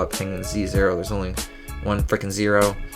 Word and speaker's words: penguinz0: And then this guy, Dragon Center, says, "Finally, someone pronounced his name like I do. Penguin Zero. Not the lame Penguin Z." Yeah, it's just Penguin Zero.